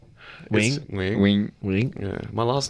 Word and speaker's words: Nguyen: Nguyen's not how you say it though. Wing.